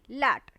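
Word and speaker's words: LAT: तीन स्टेजेस आती हैं जिसको हम बोलते हैं एल ए टी लट ठीक है जिसको आप क्या बोलते हो एल ए टी लट कर के आप इसको प्रोनाउंस करते हो लट का मतलब होता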